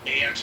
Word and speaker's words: ask: The AX pronunciation goes back over 1,000 years to Old English.